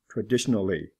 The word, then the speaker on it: traditionally: Traditional. Traditionally. L is pronounced.